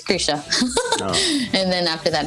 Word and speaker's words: Krizia: a nice name and it was kritia it's an italian brand and they closed i think a few years ago but it was an italian brand and then they didn't really know how to pronounce it so it's krisha and then after that